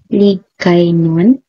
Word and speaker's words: Hiligaynon: Hiligaynon pronunciation is Hiligaynon.